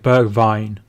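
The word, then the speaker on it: Bergwijn: come on i think you'll pronounce the ig like berg vine right get the edouard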